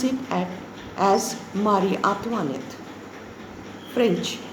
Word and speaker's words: Marie Antoinette: Louis XVI and his wife, instead of Mary Antoinette, I told you to pronounce it as Marie Antoinette.